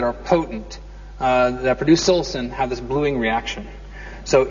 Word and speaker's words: psilocin: Most all of you are aware of this is that mushrooms which contain high amounts of psilocin or silosin however you want to pronounce it bruise bluish.